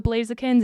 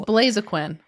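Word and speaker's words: Blaziken: One of the Blazakins is in my favorite binder because I'm not even saying it right. It's Blazquin.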